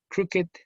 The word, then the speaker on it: crooked: Otra cosa interesante es que los adjetivos terminados en ED, adjetivos, ojo, su pronunciación siempre es id. Like crooked and blessed and beloved.